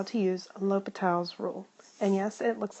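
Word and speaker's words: L'Hôpital's: this video covers how to use a l'hopital's rule and yes it looks like it spelled l'hospital but please do not pronounce it that way so first of all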